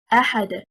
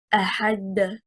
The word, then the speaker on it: أَحَدٌ: The word أحد, the stress is on harakat al-hamzah because it is stronger. Well, whoever reads it wrong and says أحد, they take the stress